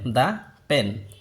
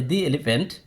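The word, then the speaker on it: the: যখন টিএইচই কনসোনেন্টের পূর্বে বসবে তখন তার উচ্চারণ হবে দা, এবং যখন টিএইচই বাওয়েলের পূর্বে বসবে তখন তার উচ্চারণ হবে দি।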